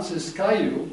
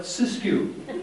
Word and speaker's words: Siskiyou: By the way, it's not exactly pronounced Tehama. We call it Tehama, and it's not Siskiyou. We call it Siskiyou.